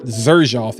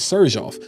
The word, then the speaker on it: Xerjoff: I wanted to kind of say this Xerjoff, and I'm saying Xerjoff because that is the correct pronunciation. It is not Xerjoff, it is Xerjoff.